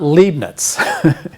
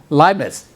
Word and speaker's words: Leibniz: It's not Leibniz. Yeah, sprechen Sie Deutsch? Das ist Deutsch, ja? Leibniz. EI is always I in German, yeah?